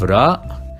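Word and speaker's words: راء: Then we have ra, and we pronounce it r, like an R in English, but you need to roll the R.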